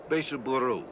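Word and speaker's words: ベースボール: Beiseburu, as they pronounce it.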